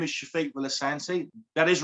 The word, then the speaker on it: Sefik Villasante: me my name is shafiq willisanti that is right you did hear it right it is shafiq villasancy and i think that's me and say pronounce it wrong but that's my accent you're even a beautiful